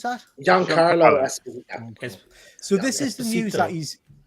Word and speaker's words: Giancarlo Esposito: How do you pronounce that? Giancarlo Esposito.